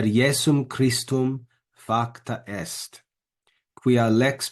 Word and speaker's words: Iesum: Gratia et veritas per Iesum, not Jesum, but Iesum, per Iesum Christum facta est.